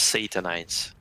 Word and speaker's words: Satanize: Or how is it better pronounced? Satanize. Almost like euthanize and sodomize.